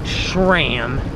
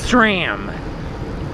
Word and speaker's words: SRAM: cork bar tape now the correct pronunciation is not SRAM its Stram like you know like a snake I believe SRAM not